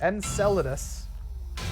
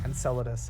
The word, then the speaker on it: Enceladus: We have, how do you pronounce this? Enceladus. Enceladus.